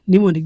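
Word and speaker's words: mnemonic: दूसरा होता है निमोनिक, निमोनिक यहाँ पर एम जो है वो साइलेंट होता है।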